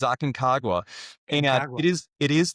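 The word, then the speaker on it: Aconcagua: It's called Mount Aagwa. Um once you climb it, you figure out how to pronounce it. So, it's not easy to do, but it's Aken Kagwa.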